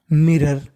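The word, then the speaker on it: mirror: Eight, मिरर, मिरर, उसने शीशे की ओर अचानक से देखा। देखिए R 2 बार है, उच्चारण 1 बार करना है, और OR को पढ़ना है आर।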